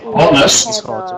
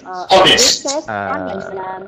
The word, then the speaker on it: honest: Because the letter H is silent, so we don't say honest, we say honest.